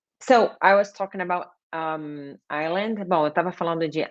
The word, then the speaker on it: island: Gente, ilha não é Iceland. You don't pronounce the letter S. Usually, when the S is before L, geralmente, em muitas palavras que o S está antes de L, não se pronuncia o S. You should not pronounce the letter S. So it's island.